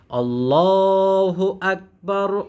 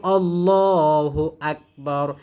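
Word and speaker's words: الله أكبر: না আল্লাহু আকবার বলি আল্লাহ পাতলা হবে না মোটা হবে আল্লাহু আকবার আল্লাহু আকবার লা ইলাহা ইল্লাল্লাহু আল্লাহু আকবার।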